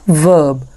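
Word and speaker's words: verb: बाद आता है वर्ब इसे आपने वर्ब नहीं पढ़ना ई के बाद अगर आर आ जाएगा तो आर साइलेंट होगा इसे आपने पढ़ना है वर्ब और तीसरे नंबर पर हमारे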